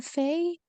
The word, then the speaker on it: fait: So you can see here that we don't hear the S, we don't hear the T. So it's basically the same pronunciation as in every person, even though the spelling is different.